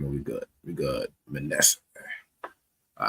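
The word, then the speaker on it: מנשה: next one is the tribe of Manasseh, which is pronounced in Hebrew Manasseh, Manasseh.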